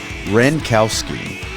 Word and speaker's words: Wrenkowski: Wrenkowski.